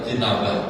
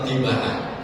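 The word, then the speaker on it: اتباعه: Allahumma arinal haqqa haqqan warzuqna ittinabah. Kebalik. Wa arinal batila batilan warzuqna ittiba'ah. Itu kok begini? Kebalik. Harusnya Allahumma rabbana arinal haqqa haqqan warzuqna ittiba'ah. Dia bacanya warzuqna ittinabah.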